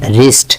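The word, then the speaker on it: wrist: আইল্যান্ডের উচ্চারণ হয় না। রিস্ট বা কবজি।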